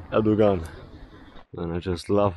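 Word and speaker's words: Erdoğan: As I told you, the G is silent, like in Erdogan. Tayyip Erdogan.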